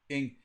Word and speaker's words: Ing: And pardon me, I think I said Nig, but I think it's Ing. You said it. How do you say that? Ing.